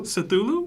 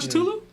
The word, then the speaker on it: Cthulhu: Cthulu. It's not Cutulu.